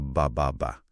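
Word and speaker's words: ba ba ba: 'Yung 333 beer. Binibigkas daw na bababa at parang simbolo raw ito ng swerte sa Vietnam.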